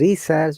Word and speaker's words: research: is research or research let's find out research research not research research research but research research research research research researcher researcher see in british english in research there are three are the first are most pronouns the other two are silent so researcher that is